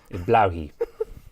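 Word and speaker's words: Blåhaj: how you well firstly the a has a circle above it whatever that mean but that that's that's some blow blowy that's how you pronounce it I'm imagining now there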